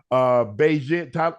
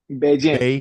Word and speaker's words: Bagent: How do you say his name the right way? I don't want to. Bagent. He becomes Bagent.